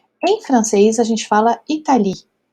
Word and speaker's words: Italie: francês a gente fala Italie. Então, o E a gente não pronuncia. Italie, tá certo? Então, se aqui a gente pronuncia Italie e termina com E